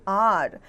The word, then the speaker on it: hour: Example: an hour, an honest man, an honor. The beginning H is silent in these words.